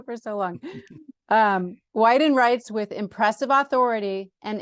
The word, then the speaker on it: Weiden: and an urgent dispatch for from Indian country widen uh and now I said it right wrong you said it right right why didn't because I've been saying it wrong for so long um Wyden writes with impressive Authority and insight in this